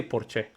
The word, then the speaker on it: Porsche: In Spain, they don't say Porsche. They say Porche. Porche. That's how they say it.